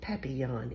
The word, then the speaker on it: papillon: like our neighbor's dog you say it like this papi yawn in french it means butterfly i help